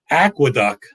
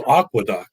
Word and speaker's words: Aqueduct: getting on me for mispronouncing aqueduct as aquadoc but same as i read it but hey you know